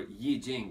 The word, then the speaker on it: I Ching: personality as well as we pronounce it or ye Jing as they pronounce it in China is essentially study of